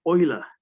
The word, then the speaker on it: Euler: a famous swiss mathematician he pronounced his name as oiler leonhard euler he was